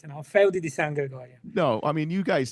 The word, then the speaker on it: Feudi di San Gregorio: We got Antonio Capaldo from Feudi di San Gregorio. All right, I butchered it.